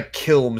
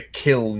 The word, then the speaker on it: kiln: no that's not a kilm season it's a kiln here thinking of with an N not an M that's what she used